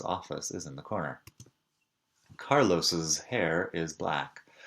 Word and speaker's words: Carlos's: Carlos's hair is black. Fíjate que sigo pronunciando como una doble S.